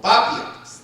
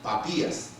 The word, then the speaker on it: Papías: Había otro que se llamó, a ver si lo pronuncio bien, se llamó Papías, o Papias, no, porque el acento es en la I, Papías, cerca del 70 y al 155.